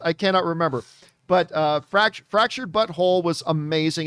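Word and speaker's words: The Fractured But Whole: it's actually fractured but whole w-h-o-l-e but it's pronounced fractured butthole and uh what was it the stick of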